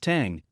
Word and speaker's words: Thing: Along with Troublemaker, the other lead single All Night Thing, properly pronounced Tang, brings all the southern